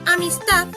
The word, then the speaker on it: amistad: Por ejemplo, en la palabra amistad, la sílaba tónica es ta, mientras que las anteriores son las sílabas átonas.